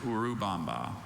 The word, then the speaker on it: Urubamba: Are there any alternate pronunciations? No, just Urub Bomba.